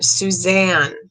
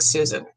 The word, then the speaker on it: Suzanne: hear susan morphew suzanne a lot of people gave me flack on the last video for not pronouncing her name right so i'm going to say her name again suzanne sorry sorry suzanne that